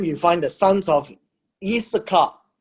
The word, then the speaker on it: Issachar: And then you find the sons of Issachar. It's not I, it is actually a Y. It's pronounced as Y. It's Yissachar.